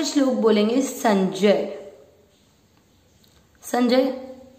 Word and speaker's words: संजय: अक्षर पूरा होता है उसमें आपको अ का उच्चारण मिक्स करना होता है। संजय, संजय, उ मात्रा छोटी है लंबा नहीं खींचेंगे,